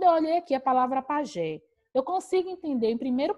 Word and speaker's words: pajé: é a última sílaba a ser a última sílaba é oxítona paroxítona vou fazer o que me apegar a regra pajé uma palavra acentuada justamente porque é sinalizada em